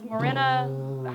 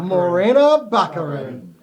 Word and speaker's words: Morena Baccarin: need for the Deadpool movie and that is Mirena how do you pronounce that Morena Baccarin thank you you are bad at names ghost